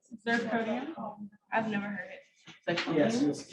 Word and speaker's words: zirconium: Oh, how do you say it? Zirconium. How? Zirconium. You've heard it before, zirconium? Not really. Is Is it ZIR? Yeah, Zirconium.